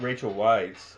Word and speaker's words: Rachel Weisz: Just to quickly get on that, we got Rachel Weisz.